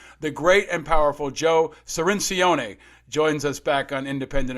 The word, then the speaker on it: Cirincione: us to school the great and powerful joe cirincione joins us back on independent americans thank you